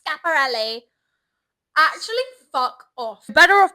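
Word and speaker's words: Schiaparelli: And the girl fucking interrupted me, the other intern, and I said chaperone. She goes, it's actually pronounced scaparelli.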